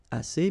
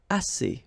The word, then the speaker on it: assez: Assez means enough, okay? Assez. Remember, two vowels here, a and then e, and then double s. So it's really strong, the s.